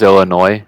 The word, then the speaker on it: Illinois: say Illinois yeah I mean yeah it is Illinois um but some people will say Illinois I don't know if anybody who said that but it is Illinois where it says there's a 72-hour 3-day waiting